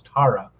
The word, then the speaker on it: Tarja: to pronounce the name it's t-a-r-j-a so it's either tara or tarja i imagine it's tara uh turin the singer